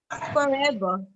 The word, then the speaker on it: forever: In RP, the R is not pronounced at the end of a word. Yes. However, you will pronounce the R if it is followed by a vowel. Forever. Forever, right? Forever. So whenever we say forever, we say the R.